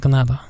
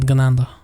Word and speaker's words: Ganado: So it's pronounced Ganado, not Ganando.